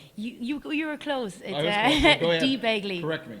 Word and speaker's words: Dee Begley: to interview her here so welcome to Detroit D B Begley sorry about that and I'm glad to have you here did I pronounce that right you you you were close D Bley corre D Bley and I'm from Cork so